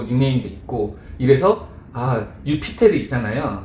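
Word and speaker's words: Iuppiter: 그 주피터가 또 목성이기도 하고 점성학에 또 관심이 많았으니까 또 행운의 별이라는 또 닉네임도 있고 이래서 유피테르 있잖아요. 거기서 이제 제2 발음이 유 발음 나잖아요.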